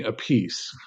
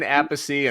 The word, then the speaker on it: Appice: drummer, and one says Carmine Appice and Vinny Appice. right, Appice and Appice. So I've decided to go international with an Italian pronunciation, Appice. So Vinny Appice replaces Ward.